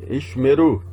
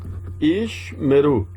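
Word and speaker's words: ישמרו: Ishmeru. Ishmeru. O primeiro eu não pronuncio, porque ele está fechando a sílaba. Ishmeru.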